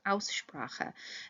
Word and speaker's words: Aussprache: Remember, pronunciation is Aussprache, and the AU, if you remember, being an ow sound, so Aussprache.